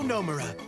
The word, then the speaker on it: Nomura: I'm Nomura. Accent on the no. It's very nice to meet you. Nomura.